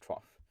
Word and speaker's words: trough: This word is actually pronounced trough.